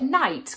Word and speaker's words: knight: For example, the word night comes from Old English. Although we don't pronounce the k sound now, hundreds of years ago it would have been pronounced.